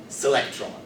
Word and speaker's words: selectron: So an electron string would have a super electron string, pronounced selectron, and its quark, and so on.